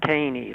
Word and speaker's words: Kanne: It's pronounced Kanne, long A, long E.